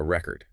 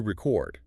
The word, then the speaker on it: record: If you emphasize the first syllable, it's a noun, a record. If you emphasize the second syllable, it's a verb, to record.